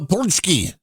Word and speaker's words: pączki: just said what punki baby it's called the punchki how you spell that see that's that's where you have the